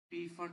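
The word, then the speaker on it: Pfund: हम बोलेंगे जो है पी फंड या फंड पी को साइलेंट करके फंड जो भी जैसे आप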